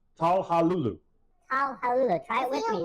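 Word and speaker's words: Çalhanoğlu: Mr. Garvey would say Hakan Talhanalulu, which is kind of how it's spelled, but it is Talhalulu.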